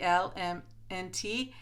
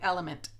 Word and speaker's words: LMNT: that I had the LMNT. And a subscriber here I appreciated her. She corrected me and said it's pronounced like element, which, yeah, you read it, yeah.